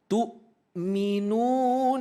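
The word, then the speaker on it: تؤمنون: Tu'minuna billahi, bukan tu', bukan tu', tapi di situ adalah huruf hamzah. Ya, ini. Ini, ya. Huruf hamzah, bukan ain. Jadi membacanya tu', bukan tu', bukan tu', tu'.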